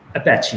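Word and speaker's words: Apache: इनमें सबसे लोकप्रिय जो सॉफ्टवेयर है उसका नाम है अपैची। अब भाई कुछ लोग अपैची भी कहते हैं, मालूम नहीं क्या करेक्ट प्रोनाउंसिएशन है, मेरे हिसाब से इसका करेक्ट प्रोनाउंसिएशन अपैची है।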